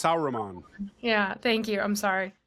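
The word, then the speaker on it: Sauron: he's not Sher I I forget how you pronounce the name Sheron or whatever he's not s sauran yeah thank you I'm sorry I I just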